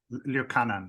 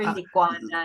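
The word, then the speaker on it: Licuanan: Al, and I think I always butcher his name, Liukanan, right? Sorry. I think I always mispronounce his last name. Oh, Dr. Liquanan.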